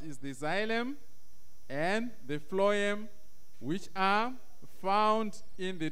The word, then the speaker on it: phloem: you the video then the next one is phloem phloem right then the next one is the stoma